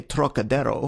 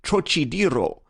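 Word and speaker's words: Trocadéro: That peculiar throaty aspirate the Frenchman gives to the first syllable, as though it were spelled Turok, is utterly beyond the Chinese, and beyond the American too, whose idea of the tonsillar aspirate leads him to speak of the trochidiro, naturally falling back upon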